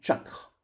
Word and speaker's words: chakra: C se prononce che, comme par exemple chakra. Et d'ailleurs, en sanskrit, on ne prononce pas le dernier A, il est élidé, on dit chakra.